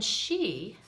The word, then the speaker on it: Sidhe: you spawn me okay and then she s-i-d-h-e she means of the